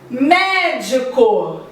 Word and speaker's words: médico: Médico. Me é a sílaba tônica.